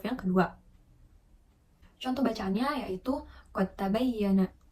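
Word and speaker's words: قد تبين: kedua contoh bacaannya yaitu qad tabayyana Nah itu kan terdapat dua huruf yaitu dal dan ta Yang mana kedua huruf itu hampir dibaca sama gitu nah kemudian Dal ini dibacanya yaitu melebur Kemudian yang kedua ada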